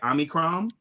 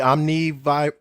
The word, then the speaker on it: Omicron: I believe that's how you pronounce it, right? Omicron.